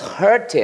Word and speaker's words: hurt: John was hurt. John was hurt. 발음이 뭐랑 똑같아요? Her. 그녀하고 똑같아요. 거기다가 t 붙이면 돼.